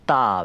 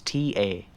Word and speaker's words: ta: And then we have a stroke called ta, which is T-A, and that is ta.